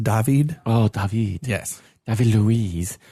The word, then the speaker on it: David: the dead David Luiz I think that that's pronounced dahveed oh yes nothing to